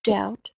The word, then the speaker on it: doubt: To doubt – сомневаться. Обратите, пожалуйста, внимание, буковка B в этом слове не произносится. Doubt.